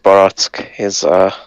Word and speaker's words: barack: In Hungarian, Barack, like Baratsk, is peach.